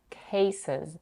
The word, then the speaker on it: cases: With their cases, she slightly aspirates k at the beginning of the first syllable, which is stressed. Cases, cases.